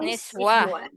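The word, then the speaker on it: نسوة: And then Niswi, is it? Not Niswi. Not Close. Niswi. Oh. Nis. Nun what? Nis- What do we call nun? Niswa, I is it? got Yes, Nun. Niswa.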